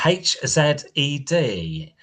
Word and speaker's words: HZED: Next, I'm interviewing Shannon Anton from Australian band uh H Z E D. And um H Z E D. How do you pronounce that?